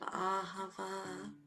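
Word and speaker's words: אהבה: Ahava means love. It has 3 syllables to it. The Ah, the Ha, and the Va.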